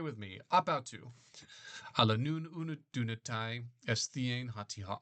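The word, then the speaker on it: ἀπ' αὐτοῦ: Ap autou, pronounce it as one word, ap autou. Everybody say with me, ap autou.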